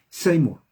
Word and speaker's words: Seymour: no sé la 1 se pronuncia seymour repita william joseph same